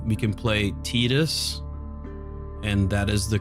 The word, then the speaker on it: Tidus: That's why they chose those names, and it's pronounced Tidus in Japanese.